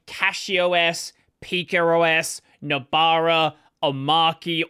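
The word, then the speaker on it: Omarchy: Now, there are a lot of distros, Bazite to some extent being one of them, like CacheOS, PicoOS, Nabara, Omaki, or Omachi, apparently is how you say it, where I would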